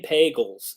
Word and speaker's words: Pagels: By the way, she says her last name Pagels. It rhymes with bagels.